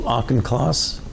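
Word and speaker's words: Auchincloss: division directors who's your deputy uh Dr Hugh auchenclass how do you say his last name class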